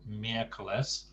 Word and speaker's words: miércoles: And there's an accent on miércoles. There's a stress on the first syllable, miércoles, and on the same on Saturday.